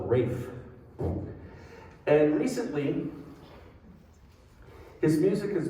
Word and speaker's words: Ralph: composer which is pronounced wraith von williams he didn't call himself ralph he called himself rafe and recently his music